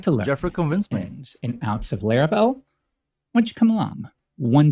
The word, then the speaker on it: Laravel: when people heard the word they called it LEL not laravel and actually some people still do today but trust me the correct pronunciation is Lar uh but yeah back then